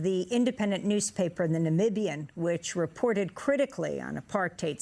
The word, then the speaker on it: Namibia: you share with the world how exactly you pronounce Namibia Namibia now I won't say this was big news